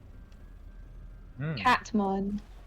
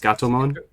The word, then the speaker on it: Gatomon: Catmon. It's pronounced Gatomon.